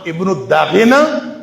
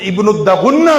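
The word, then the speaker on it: ابن الدغنة: تھا جس کا نام ابن الداغنہ یا اس کا تلفظ ابن الدغنہ بھی کہا جاتا ہے، بہرحال اس نے جو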